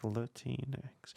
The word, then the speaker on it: Latinx: Pronouncing the X is the name of the, so you get something like Latinx.